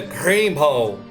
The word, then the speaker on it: Grimble: Assim, Grimble era Grimble, com um R bem enrolado.